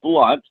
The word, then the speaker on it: Blount: and by the way my last name is pronouncing blunt although it's spelled BL o UNC most people call me blunt but you can call